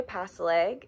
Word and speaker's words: Pasileg: An easy way to remember how to pronounce my last name is like pass a foot, pass an arm, pass a leg.